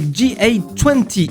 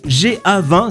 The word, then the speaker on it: GA-20: On commence direction Boston avec G20 ou GA20 si vous le prononcez à la française.